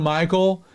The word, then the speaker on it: Michal: And yes, I said it right. It's Michal.